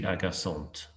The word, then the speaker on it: agaçante: If you're wanting to add the feminine form, remember that the pronunciation will be slightly different. For example, je suis agaçant, je suis agaçante. So you're sounding that ending.